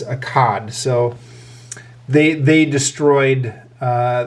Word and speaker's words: Akkad: of the city of it's spelled Aad here, but uh more commonly known I think as Akad.